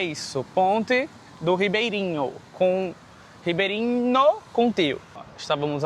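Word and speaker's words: Ribeiriño: E o nome da ponte é Ponte do Ribeirinho, que a pronúncia é igual a nossa, mas se escreve com um N e um tio, né?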